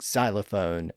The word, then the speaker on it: xylophone: So when an X appears at the front of a word, we usually just pronounce it as a Z or Z sound instead. Thus the pronunciation of words spelled with an X at the front, like xylophone and xenophobia.